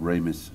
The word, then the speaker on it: Ramis: Then John Candy and Harold Ramis, stroke Ramis, depending how you like to pronounce him, worked on a version.